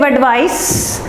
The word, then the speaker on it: advice: parts of speech, and the tip is nice to give advice, and the wise will advise well. The wise, so wise and advise, nice and advice. That's how you need to remember it.